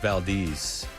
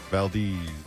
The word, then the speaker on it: Valdez: It's the lightning round with Chris Apparently it's pronounced Valdez. Valdez.